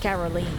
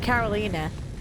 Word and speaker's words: Carolina: Because your name technically is not pronounced Caroline. It's like Carolina, right?